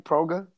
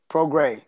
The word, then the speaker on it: Prograis: Is that how you say his name? Proga? PROGRAIS. Progas? Progray.